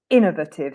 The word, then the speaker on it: innovative: that word but Innovative so the stress is on the if and because she's Italian it would be like in inovative or Innovative or something like that and so Innovative yeah so she found that really challenging that is not how I say it I say Innovative yeah Innovative but still the it is quite important yeah so if you go inovative so you you stress the in but you don't stress the V whereas I for me